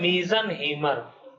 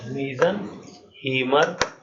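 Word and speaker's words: Meisenheimer: इस वाले कॉम्प्लेक्स का और हाइब्रिड का नाम है मीजनहीमर। स्पेलिंग देखिए, MEISES, मीजनहीमर कॉम्प्लेक्स। ठीक है, इसका नाम है मीजनहीमर कॉम्प्लेक्स।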